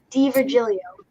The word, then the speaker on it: DiVirgilio: nice first of all tell me how you pronounce your last name oh d virgilio oh diva julio that's so easy i'm so dumb i'm sorry